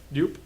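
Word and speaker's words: Doop: That's how you pronounce it. It's Dupe. Dupe.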